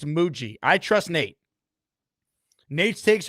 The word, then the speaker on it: Mougey: It's no longer Mugi. It's Muji.